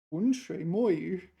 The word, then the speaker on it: 浑水摸鱼: This one, so 浑水摸鱼 is apparently the correct pronunciation. This first character 浑, but native speakers will use fourth tone 浑水摸鱼, and yeah, they will be quite surprised if you point it out.